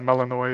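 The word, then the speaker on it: Melinoë: Yeah, The 'cause she's funniest more of a thing, Melione, witch. something like that. yeah, Melanoy is what they pronounce it.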